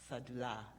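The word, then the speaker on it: Syedullah: Rod Owens, who you met earlier, and Yasmin Saidulla. Did I pronounce her name correctly? Sadullah.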